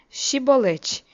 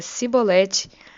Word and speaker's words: Chibolete: Se respondesse que não, os homens Giliade lhe diziam: "Então diga Chibolete." Se ele dizia cibolete, não podendo pronunciar corretamente a palavra, eles o agarravam e matavam nos valquele tempo, foram mortos 42.000 efraimitas.